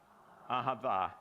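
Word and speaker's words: אהבה: Ahava.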